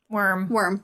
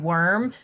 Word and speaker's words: wyrm: Worm. Worm? Yeah, the WYRM. I It's still have worm. always pronounced it worm, but I heard people pronounce